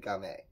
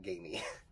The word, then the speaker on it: Gamay: It's spelled like gamey, but they said Gamay. So I'm assuming it's Gamay and not gamey.